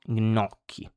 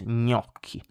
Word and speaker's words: gnocchi: Then we have gn, gn, like in gnocchi. So it's not gnocchi, it's gnocchi.